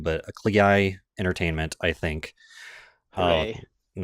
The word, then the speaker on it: Klei: Klei, it rhymes with play. Okay. Yep. All right. So apparently it's pronounced Clay.